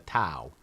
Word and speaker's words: Tao: I don't know why they don't spell that word D-A-W, because nobody pronounces it the Tao. It's the Tao of Freedom.